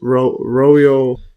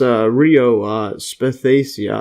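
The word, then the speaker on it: Rhoeo spathacea: This is Royo, or I think it's pronounced Rio Spathacia, and this is a spider wort, which is a type of wild flower.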